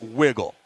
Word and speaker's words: WGLL: So WGLL, pronounced wiggle.